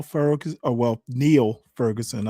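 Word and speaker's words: Niall: Um I actually like Nile Far. Oh, well, Neil Ferguson. I pronounce it now, but I think he pronounces it Neil.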